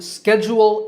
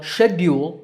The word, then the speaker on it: schedule: Similarly, schedule is the American pronunciation, while schedule is British. Again, the first syllable is stressed in both accents.